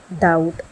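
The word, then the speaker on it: doubt: जैसे पहला क्लाइम, साथ में मैंने प्रोनाउंसिएशन भी लिखी है। क्लाइम इसका मतलब होता है सीढ़ी चढ़ना या माउंटेन चढ़ना। डाउट, डाउट का मतलब होता है शक करना।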